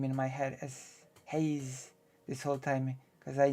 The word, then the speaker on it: Haze: you say it before yeah it's Hazel but it's okay it's like it's like with vaj and you know maybe that is just um the fate of Polish streamers that your name is um how you say that's how your name is pronounced is a choice I guess you know you can say hazel you can say Haze and I'm probably not gonna be mad about it at this point it's